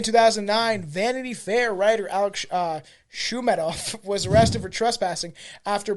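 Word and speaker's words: Shoumatoff: So most recently in 2009, Vanity Fair writer Alex Shumatoff was arrested for trespassing. Shumatoff. That's what it is. Shumatoff. I can fucking turn it. Shumatoff.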